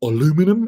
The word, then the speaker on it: aluminum: hear British pronunciation and aluminum if you want to be an American and uh this one